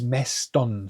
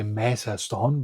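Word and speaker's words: μέστον: But here is meston. So when you have ton, then afterwards, then you don't say mesaston, because this adds a useless syllable in between. You can connect it, meston, meston, inside it, inside the sky, meston urano.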